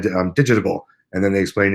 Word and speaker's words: Digitable: It is, yes, Digitable.